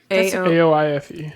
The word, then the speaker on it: Aoife: A-O-I-F-E. Oh, sorry. Yeah, that's a common Irish name pronunciation. Is it Aoife?